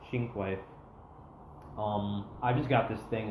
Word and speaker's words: Cinque: That's actually how you pronounce this thing, not Cinque, not Cinque Roadster. It's actually pronounced Cinque.